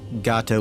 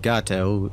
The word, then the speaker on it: Gato: I know traditionally Gato was pronounced Gato by the U.S. forces. It's a Spanish word for cat. The submarine was named for the cat shark. I'm pretty sure it was just people mispronouncing the word Gato. They saw the word Gato and they thought it was short for gator, maybe? I don't know, but obviously it's supposed to be Gato.